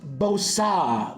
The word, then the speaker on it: Bosa: And our auto is that looks like a Nick Bosa. If I remember his auto well enough, it's pronounced Bosa. Leviosa. Levio Bosa.